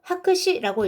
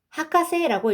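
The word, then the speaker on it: 博士: 그럼 우리가 어, 박사님이라고 부를 때는요 박사라는 똑같은 한자를 가지고 하크시라고 읽지 않고요. 하카세라고 읽습니다.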